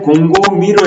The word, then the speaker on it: 곰곰이: 굳이 하자면 곰고미로 해서 연음법칙으로 발음은 하지만 음운이 변동된 것은 아니죠.